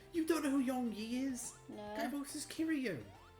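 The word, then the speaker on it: Yong Yea: Oh, you mean Yong-ye? Oh, that's how it's pronounced? Yeah. Okay. Sorry, I just see Y-E-A and assume it's Yi because I'm English.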